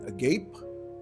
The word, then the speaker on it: agape: sa iyahang suat well there are two ways to pronounce it either a gape or agape ang goddess of love